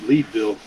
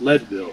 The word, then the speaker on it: Leadville: yeah i called it leedville but it's pronounced leadville i'm pretty sure it's leadville because they mined there because it was a mining town of lead yeah makes sense to